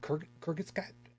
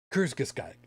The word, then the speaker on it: Kurzgesagt: the oh God, how the hell is it pronounced? Kurzgesagt? Kurgis, whatever the hell it is over on YouTube. Shit, there's a Yeah, I know their channel. Actually do. I don't remember. Kurzgesagt.